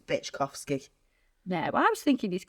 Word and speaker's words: Byczkowski: But is it pronounced Byczkowski?